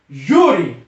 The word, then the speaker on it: júri: aqui vamos para outro júri júri o júri percebeu que a sílaba tônica é no j u acentua-se a Cecília vai